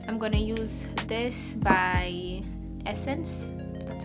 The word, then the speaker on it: Essence: I'm gonna use this by Essence, that's how you pronounce it.